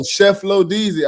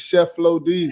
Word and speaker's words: Cheflodeezy: How is it pronounced? Oh, Cheflodeezy. I knew it was a chef. I was gonna work to it. I was gonna work my way to it. It's Cheflodeezy.